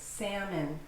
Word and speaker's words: salmon: It's not salmon, it's salmon, salmon.